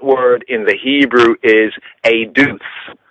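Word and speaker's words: עֵדוּת: So Eduth, and it's spelled as Eduwth, Eduth, and pronounced as Eduth, Eduwth.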